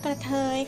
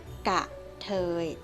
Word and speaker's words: กะเทย: ต่อ ไป ครับ ว่า กระเทย ค่ะ กระเทย คำ นี้ เขียน ให้ ถูก ต้อง นะ คะ กะเทย จะ ไม่ มี รอ เรือ นะ คะ ออก เสียง ให้ ถูก ต้อง กัน ด้วย นะ คะ อ่ะ